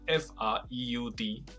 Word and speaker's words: Freud: 大家好，我是 Paul，周一到周五英文一起读。弗洛伊德你熟吗？应该至少听过吧。英文会说吗？我们就来说一说弗洛伊德里面的一些概念哈。那弗洛伊德的英文是 Freud，如果让你猜，你可能会念成 Freud，不是，他要念成 Freud，就好像有一个那个倒 C 的音在里面，Freud。所以中文的翻译其实并没有差到远到哪里去，弗洛伊德 Freud。那我们先讲一个词，这个词叫做